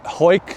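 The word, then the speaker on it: Hawick: there as well H hoik that's pronounced ho I think it's h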